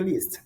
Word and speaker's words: least: Last é só um A que tem, aí a pronúncia é last. Mas aqui a fica least, at least.